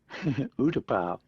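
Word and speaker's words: U-Tapao: Is it Utapo? Utapau. Utapao? Utapau. Okay, Utapao.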